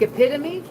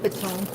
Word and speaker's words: epitome: Like epitome. I thought epitome was epone.